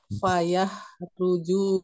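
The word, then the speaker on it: فيخرج: Coba Ibu Devi dibaca yang ini, yang fayakhruju minhul ma. Ma-nya awas dibacanya 5 atau 6 harokat. 1, 2, 3 silakan. Wayah Fa ruju bukan wa, fa. Fayah ruju minhul ma.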